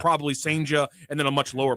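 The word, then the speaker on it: Cijntje: His name's Durangelo, and I believe the pronunciation I have found is Senja. It's spelled Badass. It's spelled Senja. It's spelled CJINTJE, I think, and it's pronounced Senja.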